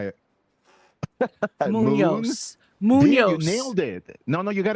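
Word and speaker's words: Muñoz: That's Munoz. actually the right way to say it, like Munoz. Like it's a tilde over the end, which I don't use. That makes it more complicated, but it's kind of flows.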